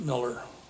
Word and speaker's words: Mueller: miller that's m-u-e-l-l-e-r my grandfather came from germany and anglicized to pronunciation and the only two places in the country where you have to say it's miller is or not say it's miller is in wisconsin and nebraska um yes sir where